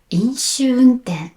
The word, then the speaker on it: 飲酒運転: 飲酒運転 has three but only for the second your tongue touches the roof of your mouth. And when you say the first and the last your tongue stays down.